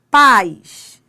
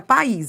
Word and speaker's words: pais: Pais. Pais não é país, é pais.